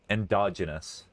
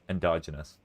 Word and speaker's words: endogenous: pronounce things correctly and endogenous endogenous it sound like they're so scared the dogs yeah endogenous endogenous endogenous